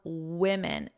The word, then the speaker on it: women: Remember our pronunciation of women. Women.